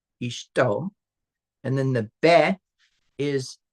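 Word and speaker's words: אשתו: So this isht right here, just this part right here would be pronounced isht, and then o, ishto, and then the be is in.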